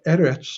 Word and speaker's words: eretz: and i stated that the eretz of course being a cigalike noun is accented on the first syllable but when it is